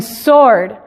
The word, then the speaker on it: sword: En sword. Ahora, ¿se fijan? La W no necesariamente está en medio de la palabra, más bien la que está en medio es la O.